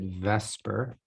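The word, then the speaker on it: VSEPR: theory which is called vesper it's via cpr but we pronounce it vesper just to make it easier to say and it's essentially a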